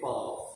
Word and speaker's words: Iqbal: Mohammed Iqbal, is that how you pronounce it? Iqbal.